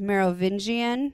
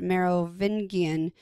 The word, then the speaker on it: Merovingian: I've always heard it as Merovingian with a hard G, but I also have heard it said Merovingian. So however you want to say it will probably work.